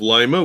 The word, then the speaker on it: Lima: We have Lima. Toledo. Yeah, we have Lima, which is also pronounced Lima if you go down to South America.